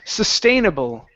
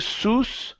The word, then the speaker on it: sustainable: Uh right here, this big word sustainable. Sustainable. Sustainable. Sustainable. Sustainable. Okay, instead of saying suss, open up your mouth. Sus. Sustainable. Sustainable.